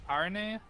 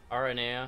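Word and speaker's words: Aranea: Aaron heya all right RNA RNA oh yeah that's the way they pronounce it so that's the way I've learned to pronounce it because it sounds the simplest yeah I like her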